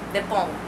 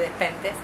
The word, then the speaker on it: Despentes: Estuve 10 años diciéndole Despentes. Este año llegué a Barcelona y me enseñaron que es Despont. Bueno, Yo digo, todo el mundo dice Despentes acá en Buenos Aires, no se dice Despentes, se dice Despont.